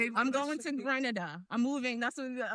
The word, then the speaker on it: Grenada: She talked about she's going to Granada, bro. It's called Grenada. Maybe you should know how to pronounce the country before you go there.